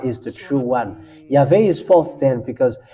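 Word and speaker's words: יהוה: YAHVAH is the true one. YAHVAH is false then because it's not in the Jews alphabet, ancient Jewish alphabet, if you may ask.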